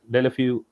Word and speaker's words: Deulofeu: I think I Deulofeu, yeah, pronounce Delafiu.